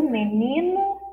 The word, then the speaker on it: menino: Mas menino, como você já viu a escrita e percebeu a pronúncia, o som na última lista, menino, a sílaba final tem o som de U. Fraco.